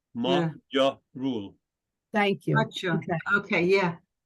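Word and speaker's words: magyarul: it looks like m-a-g-y-a-r-u-l where's the G sound because the gy is a combination letter that's the ja remember it's a combination it's not a magia rule it's your rule thank you okay okay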